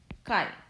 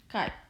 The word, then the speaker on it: chi: and a square but we read this as chi this is a great letter kai but we have we